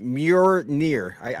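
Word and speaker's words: Mjölnir: I'm going to pronounce it wrong, but Mjolnir. You got it. That's damn near right. Mjolnir.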